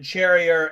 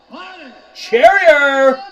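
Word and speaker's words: Morgan Charrière: Morgan Charrier. Morgan, the last pirate, Cheyenne. So he said Cheyenne. That doesn't look like a spelling to me, but I'm going to go with that because Bruce Buffer is...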